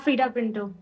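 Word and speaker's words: Freida Pinto: Um I mean Freda Pinto is so absolutely gorgeous in everything she does. Is that the right way to pronounce it? Yeah. Freda Pinto.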